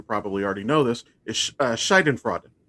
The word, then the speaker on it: Schadenfreude: In German, which I'm sure you probably already know this, is Schadenfreude. Or did I mispronounce that? You did. It's Schadenfreude, Schadenfreude.